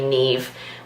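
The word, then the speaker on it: Niamh: girls name was actually gonna be Nev which is spelt and I am H the Irish way we love confusing Spelling's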